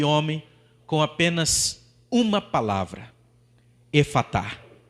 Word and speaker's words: Efatá: E simplesmente com o poder daquela palavra de Jesus, a pronúncia Efatá, que significa abre-te, simplesmente aquele homem é curado na hora.